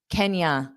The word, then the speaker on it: can you: Can you sounds like Kenya, because can will be unstressed. Can. And you can pronounce it as you or ya. Can you? Can ya? Can you give me? Can you? I generally say you, but many native speakers will change it to ya.